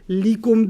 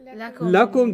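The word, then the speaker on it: لَكُمْ: up on a pronoun, you can't say li. You say la. Okay. It's the same lam, harf of jar. But the only time it's pronounced la is when it's working on a pronoun. So you don't say likum dinukum waliyadin. Okay. What do you say? Lakum dinukum.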